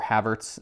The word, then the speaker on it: Havertz: chase some kai kai kai heverts or havertz as us americans say but polissic nine there